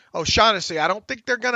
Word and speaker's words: O'Shaughnessy: How do you pronounce his last name? O'Shaughnessy. O'Shaughnessy.